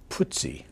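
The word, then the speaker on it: Putzi: of kind of a nice little moment uh putsy that's the way you pronounce it yeah Ernst Sedwick hangle nicknam putsy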